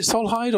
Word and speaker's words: Solhyd: I say it right, Solhyd or Solid? How do you say your company name, and tell me what you do? It's Solhyd. It's a Solid company, of course.